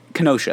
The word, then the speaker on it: Kenosha: It's weird because, like, Kenosha, that's how you say it.